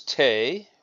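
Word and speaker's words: 手: and in this technique number 11 it's it's pronounced yaku which means reverse the next character is tay which means hand and then the third character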